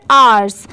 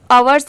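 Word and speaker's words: hours: ई आर her after आवर्स यहां पर आवर्स नहीं पढ़ेंगे अवर्स किसको पढ़ते हैं ओ यू आर इसको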